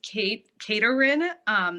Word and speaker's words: Kaitorin: So the best way to get a hold of me is to go onto my Instagram, which is Kaitorin. That's actually how you say my name in Japanese.